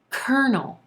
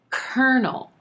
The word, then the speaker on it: colonel: you say this word colonel colonel the pronunciation definitely doesn't match our spelling here but this word is going to sound just like kernel as in kernel of corn although it definitely looks